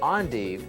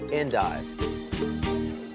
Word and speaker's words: endive: see in grocery stores although the spelling is the same these smooth leafed heads are pronounced endive and the curly leaf varieties that we're growing are pronounced endive curly endive is